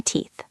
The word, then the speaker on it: teeth: I am brushing my teeth. I am brushing my teeth. Pay attention to the th sound at the end of teeth. It is a soft blowing sound.